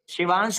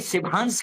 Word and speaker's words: शिवांश: कोई त्रिवेदी कर देगा, कोई दुबे कर देगा, कुछ कर देगा, कोई शिभांश कर देगा, कोई शोभांश कर देगा, कोई, अरे मेरे पास कमेंट आता कोई दिवांश कर देता है, शिवांश को दिवांश।